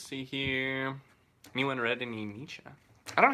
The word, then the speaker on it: Nietzsche: or the other Bob Dylan's great I mean Nietzsche okay good yeah I said it right cool that's good cuz I mispronounced all the other stuff so I mean